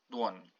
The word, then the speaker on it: dłoń: So not dłoni, dłoń.